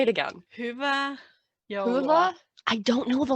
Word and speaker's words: Hyvää joulua: Hyvää joulua. Hula? I don't know the last one. Is it like an O or is it like a U? It's Joul.